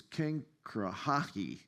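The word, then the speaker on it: Cenchreae: Phoebe was a deaconess from the church in, I tried to write out the pronunciation because these sound so different than the way they're spelled. I think it's Kangrahi, which is a seaport next to Corinth.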